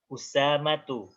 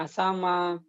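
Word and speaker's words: أسامة: Nanti kalau ketemu kalimat ini jangan salah lagi. Nanti jangan ada bacanya asama, ada bacanya tulha, ada bacanya jangan seperti itu ya.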